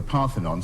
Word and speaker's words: Parthenon: Athens the chunks of the sculpture of the Parthenon, sometimes called the Elgin marbles, always pronounced wrongly in this country.